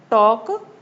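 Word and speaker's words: talk: Next टॉक टॉक में भी देखो एल साइलेंट है यहां पर। एल की साउंड नहीं आ रही तो इसको भी सर्कल कर लेंगे।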